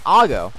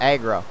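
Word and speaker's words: Agro: you listen to it closely he does say aggro but when i was a kid it always sounded like he was saying i'll go so that's how i would always pronounce it but i recently found it or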